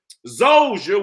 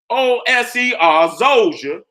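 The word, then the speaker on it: Djoser: That Imhotep built the Pyramid of Saqqara for his sultan, Zoser, which is spelled D-J-O-S-E-R, Zoser.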